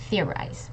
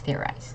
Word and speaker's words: theorize: misled you a bit it's theorize okay so theorize not I mean you're pretty close I guess I'm being a little picky here so it is theorize okay uh great there